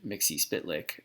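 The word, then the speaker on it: Mxyzptlk: who's the surprise guest mister mixi spit lick that's how I've been told to pronounce I used to pronounce a mix of lick but everybody says mix Eastbay like so you know whatever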